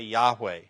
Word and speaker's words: Yahweh: this and say Yahweh if you're going to pronounce the name say Yahweh or what the English